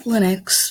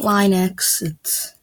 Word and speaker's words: Linux: OS flags and Linux I'm gonna be pronouncing it Linux the entire time it's not line exits but if it's pronounced